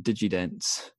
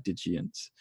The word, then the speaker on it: Digients: I was calling them Digidents in my head. Thankfully, no one was there to hear me mispronounce it. But then about halfway through, I was like, oh no, I've been calling them Digimon. They're actually Digients.